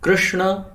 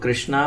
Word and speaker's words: कृष्ण: जैसे कि अ श्री कृष्णा कृष्णा तो कई लोग कृष्णा बोलते हैं कृष्णा तो द्रौपदी का नाम कृष्णा भगवान कृष्ण का नाम भगवद्गीता और भगवत भगवत